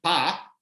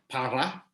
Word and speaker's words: para: Of course, if you don't pronounce the R, and a lot of Chileans don't pronounce the R in those words, they say por and pa instead of por and para.